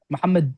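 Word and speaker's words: محمد: Muhammadu. Muhammad. You don't say Muhammadu. No, Muhammad.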